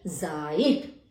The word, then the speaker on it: Zeit: MEIN यानी mine, ZEIT जाइट, KEIN Kine. तो इसका उच्चारण EI का उच्चारण होता है आई।